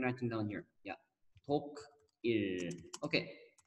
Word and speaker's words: 독일: 독일. Okay. Say with me, everyone. 독일. Germany. Yeah. 독일.